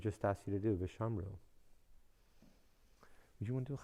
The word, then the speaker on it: ושמרו: When you hear the word Vishamru, you should hear the U sound at the end. Vishamru, Baruchu, Gadlu, Hallelu. When you hear the U sound at the end of a Hebrew word,